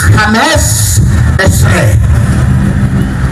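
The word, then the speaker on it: חמש עשרה: dari nama yahwe yah tapi orang Ibrani tidak membacanya dengan angka ke-15 disebut dengan yah dan mereka membaca dengan Hames esre Hames es ya tidak baca yahwe kekendekan dari nama yahwe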